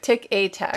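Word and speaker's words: Tic et Tac: Tick a tack. Tick a Tack. I never say it right. Chippendale. It's Chippendale. E-T is A in French.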